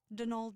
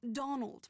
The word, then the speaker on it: Donal: met at the door denal Delany not Donald mind you there's no D at the end so it's pronounced denal